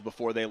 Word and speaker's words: Buchanan: Tim bannan's name wrong it's Buchanan like the president I've got a story